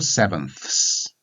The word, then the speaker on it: sevenths: be four sevenths and this is quite difficult to pronounce for a lot of people so now you have to have the f with us on the end so four sevenths so perhaps you should